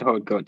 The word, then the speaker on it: Haute Goa: He Hot pronounces Goat. that Haute Goat.